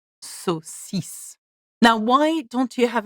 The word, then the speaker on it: saucisse: Saucisse. Do you notice that we pronounce the S sound and not the K? And why is that? Because there is an I after the C.